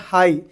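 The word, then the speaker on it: high: इसलिए यहाँ पे क्या हो गया, पी मेरा साइलेंट हो गया. कल और एक चीज़ क्या बोला था मैं, हाई, GH किधर भी दिख रहा हो, GH क्या रहता है अपना, साइलेंट हो जाता.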